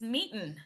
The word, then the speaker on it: Meetin: You guys, Miranda's here from a company called Meetin. Am I pronouncing that right? It's meeting.